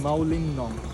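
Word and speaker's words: Mawlynnong: And how do you pronounce that? I've always been very confused. Mawlin Nong. Mawlin Nong. Mawlin Nong, and today we are going to Moling Bana. Moling Bana, and tomorrow is Moling Nong.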